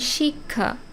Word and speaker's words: শিক্ষা: হচ্ছে তাই না কিন্তু শব্দের মাঝখানে যখন এটা বসে যেমন শিক্ষা বা অক্ষর এখানে কেমন উচ্চারণ হচ্ছে আগে ক এর উচ্চারণ হচ্ছে তারপরে খ আসছে অক্ষর শিক্ষা বা পরীক্ষা